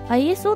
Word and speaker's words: ISO: いうことですね世界的には ISO ですね磯と読むのは 2 本だけのようですふーんはいじゃあ分かりました ISO と呼びましょうで